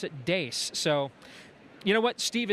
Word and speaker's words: Deace: of interviewing Steve Deace, a talk show host and author of an upcoming book, We Won't Get Fooled Again.